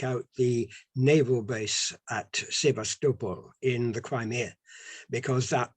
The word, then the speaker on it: Sevastopol: Notice, by the way, I'm giving it the correct Ukrainian pronunciation there. Now, I would have said Sebastopol, but it's now Sevastopol because I've been there.